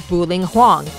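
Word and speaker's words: Bu-Ling Huang: As stated in the theme naming blog, she's Chinese, so the proper pronunciation of her name is Buling Huang, but the Japanese pronounce the kanji as Puring Fong.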